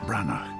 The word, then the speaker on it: Branagh: And Kenneth Branagh, not, as I've heard many of you pronounce it, Kenneth Branahanamanahman.